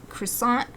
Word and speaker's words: croissant: Like, try to pronounce the French words. And I learned so like, for example, croissant instead of croissant. Croissant is the American way.